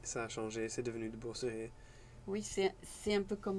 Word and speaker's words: De Boosere: C'est comme ça qu'on prononce Oui, son nom. tout à Et fait. quel est ton nom de famille? De Beauceret. De Beauceret.